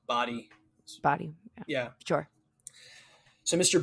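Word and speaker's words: Badii: Yeah, it's Indian, right, or Middle Eastern, so Body.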